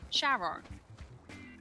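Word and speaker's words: Charon: And because that's Greek, it's pronounced CH is pronounced as a hard K. However, it's also, I believe, one of Pluto's moons. And that's pronounced by NASA as Shaon.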